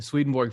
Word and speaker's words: Swedenborg: Man, so my name is Curtis Childs, and I'm vice president of programming at the Swedenborg Foundation. And that was great. Yeah, you pronounced his name right.